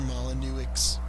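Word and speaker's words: Molyneux: I know it doesn't end with the X, but it does, but it's um it's not pronounced.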